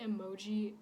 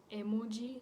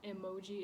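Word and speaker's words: 絵文字: So actually, the word emoji is a Japanese word. In Japan, it's pronounced emoji, not emoji.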